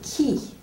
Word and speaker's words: qui: Astor, regardez le mot qui. Qui. Le UI est juste prononcé comme un I. C'est pas prononcé qui.